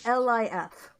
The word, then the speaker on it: Lif: from it yeah and it's spelled l-i-f i might say leaf because i'm used to saying leaf erickson but it's lif oh my god eric